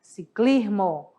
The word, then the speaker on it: ciclismo: isso mesmo em espanhol Nós escrevemos da mesma maneira mas na pronúncia que vai diferenciar um pouquinho que vai ficar ciclismo olha de novo com a supressão ciclismo é um esporte em